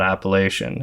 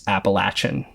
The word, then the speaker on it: Appalachian: Mountains wow saying guys it's not Appalachian it's appalachin okay so now we know